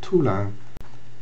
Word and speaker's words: tulang: Take for instance the first word, tulang. To help us, the authors of the book have offered the spelling Toolahny, simply because the 18th